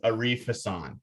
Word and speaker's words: Arif Hasan: No, you got it. That's what I go by. It's just if you ever go to like an Arabic speaking country or a Muslim dominant country, that's not how they're going to pronounce it, but that's how I pronounce it.